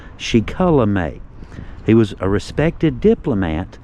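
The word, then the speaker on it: Shikellamy: He was born in the early 1700s, likely a son of Shikulamay. Get that right, it's pronounced Shikulamay.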